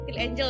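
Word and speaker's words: SKIN1004: Jadi untuk pagi gue pakai toner dulu, Centella Asia Skin 1004 ini loh. Ya, bacanya Skin Angel, guys.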